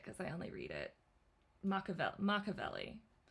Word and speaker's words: Machiavelli: Machiavelli. If I'm speaking Italian, which I studied in college forever ago, it would be like Machiavelli.